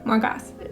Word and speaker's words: Morgoth: No, Morgoth is how you say it.